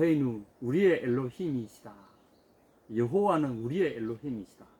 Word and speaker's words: 여호와: 우리의 루시 이미 시다 여호와는 우리의 lo 이미지다 어 아 이 중요합니다 이거 아는 우리 엔론 이 잊자 그때 여호와를 그 당시는 여호와 로 발음을 안 하고 아도 나의 로 발음 했어요 아도나이 는 주님 이라는 뜻인데